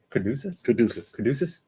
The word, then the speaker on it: Caduceus: So just so you know, how do you pronounce it? Caduceus.